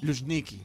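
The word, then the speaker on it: Luzhniki: En el estadio Lushniki, ¿lo pronuncié bien? ¿Lushniki? Lushniki. Lushniki, muchas gracias. Acuérdate de Luismi y Miki. Luismiki. Sí. Luismiki, es verdad.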